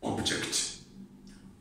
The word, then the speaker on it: object: see the object so the stress is on the first syllable syllables here are a